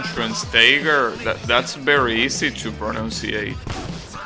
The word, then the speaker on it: Schweinsteiger: Just say Schwen. Schwen's Tiger.